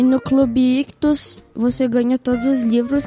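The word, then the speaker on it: Ichthus: Lembrando que Ictus se escreve I-C-H-T-H-U-S. Então tem dois Hs, tá bom?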